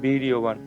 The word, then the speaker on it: বীর্যবান: উত্তজাসচ বীরয়বান অন্তযথা বয় অন্তযথা উচ্চারণটা আমরা কি করি ই করি উচ্চারণ বীরবান সৌভদ্র আমরা জানি দন্তস